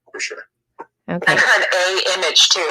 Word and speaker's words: AiMAGE: How do we pronounce the name correctly of your project? So it's AiMAGE. AiMAGE.